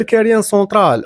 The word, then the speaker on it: كاريان سنترال: اسم كاريان سونترال جا من هاد العمال المهاجرين كيبغيو ينطقوا مقلع الحجارة بالفرنسية كارير دو لا سونترال، بالفرنسية كينطقوها بكاريان سونترال. تزادوا الناس وكبر كاريان سونترال وتجاوز أراضي البلدية، واصحاب